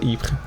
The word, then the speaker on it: Ypres: a little description about EEP dubbed wipers in Italian ruins dubbed wipers by British troops due to its difficult pronunciation wipers the Belgium